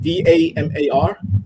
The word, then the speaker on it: Damar: Wait, you said Damar, like with just D-A-M-A-R? Damar, like Damar Cousins. D-A-M-A-R-R. Damar. It's like Lamar, but with a D.